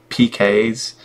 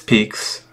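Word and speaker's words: Piques: You think it'd be like PK's? The way that it's spelled, or PK, whatever. But it's Peaks.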